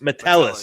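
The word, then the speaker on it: Metellus: They got Josh Josh, what is how do you pronounce his last name? Is it Matulis? Metal Matis Matelis. Matelis.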